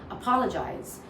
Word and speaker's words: apologize: See, if you say apologize, Sometimes we stress on jais. However, if you stress on paw, you will just sound more neutral.